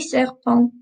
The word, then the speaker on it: serpents: We don't pronounce the S's on the end, okay? Les serpents, les loups, les lions, les zèbres, les girafes.